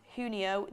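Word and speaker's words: junio: also on June 8th you actually pronounce June as hunio the J makes an H sound in Spanish cheers from New York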